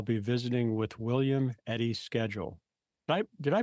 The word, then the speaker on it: Schedule: world today I'll be visiting with William Eddie's schedule did I pronounce the last name correct correctly yes spell